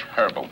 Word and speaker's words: herbal: Glade Fresh Herbal. Not herbal, herbal. Says herbal. It's pronounced herbal.